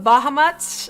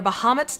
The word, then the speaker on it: Bahamut: uh in terms of bahamat or Bahamut depending on how you want to pronounce it because everyone does their